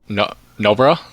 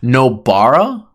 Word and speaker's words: Nobara: Noburo. One more time. Say it slow. Noburo. Wrong. What is it? I think it's now you've got me saying it wrong. Nobara.